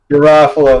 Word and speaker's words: Garofalo: I can never pronounce her last name. Janine Garofalo. Garofalo, that's right.